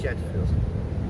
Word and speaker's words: Shenefield: Pronounce it Stephanie Shenefield.